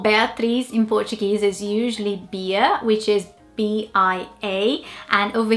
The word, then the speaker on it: Bia: The nickname for Beatriz in Portuguese is usually Bia, which is B-I-A, and over here it would probably be Baia, like bias, but just without the S.